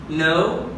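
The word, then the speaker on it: know: على سبيل المثال عندنا كل كي، طبعا كقاعده كل كي يجي وراها حرف الان تعتبر الكي هي مجموعه خاليه لانها لا تلفظ، والكلمات التي يتواجد كي وراء حرف الان مثل هذه الكلمات.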